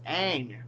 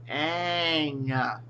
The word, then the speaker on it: Aang: Um, his name is Aang. Aang. And it's not Soka, it's Sokka.